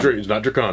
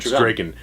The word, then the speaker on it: Draken: It's not Drakon. No. Oh, it's not Drakon. It's Draken. That's what Jason David Frank said. It's how it's pronounced.